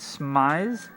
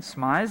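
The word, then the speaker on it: smize: Smise? Is that like eyes? But it was spelled like S M I Z E.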